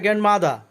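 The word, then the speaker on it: grandmother: গ্র্যান্ডমাদার অর্থ দাদি, লাস্টে আরের উচ্চারণ হবে না তাই গ্র্যান্ডমাদার অর্থ দাদি।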